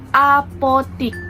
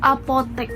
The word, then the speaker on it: apotek: Apotik. Padahal kan yang benar tuh apotek gitu.